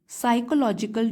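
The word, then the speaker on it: psychological: टू the development of साइकोलॉजिकल disorders in students तो मे है मे का मतलब है कि हो सकता है इसकी वजह से क्या हो शुरू हो जाए साइकोलॉजिकल इसमें पी साइलेंट है साइकोलॉजिकल मींस मनोवैज्ञानिक माइंड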